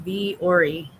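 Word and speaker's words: Vuori: have to take a look at it it's pronounced V Ori only found it once but sold it to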